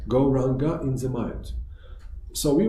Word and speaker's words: Gauranga: This mantra has 4 syllables. Gauranga.